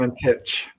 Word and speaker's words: Valentich: Valentich. Okay. Yes, that's it. You got it. I've been mispronouncing it the whole time.